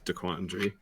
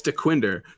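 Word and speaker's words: Dequindre: There's a street by where we live that some people pronounce DeQuandry. It's hilarious. It's DeQuinder.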